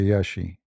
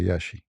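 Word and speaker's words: Iași: beautiful country actually yeah when you pronounce it you say yashi like in in in Latin it sound different but they this what I learned from them they say yashi It's not a actually I went not only to Yashi.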